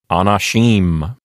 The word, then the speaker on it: anashim: For example, in Hebrew, you might have a word like anashim, you know, with the accent thrown to the end, the last syllable.